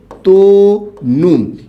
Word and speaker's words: তনু: ভাবে ত যে আছে ত এর শেষেও কিন্তু অ আছে এবং পরের বর্ণের রসও আছে তাই এটার উচ্চারণ কি হবে তনু এইটুকু সবাই আশা করি